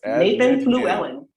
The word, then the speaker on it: Nathan Fluellen: everything so uh without further Ado let's introduce Nathan Fluellen welcome brother am we are we pronouncing that right yes you got it all